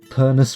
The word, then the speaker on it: Pernus: Pernus rhymes with furnace.